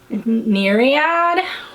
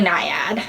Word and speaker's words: naiad: gorgeous this is niad i kept saying myriad which is neread is a thing um but it's actually naiad so my pronunciation and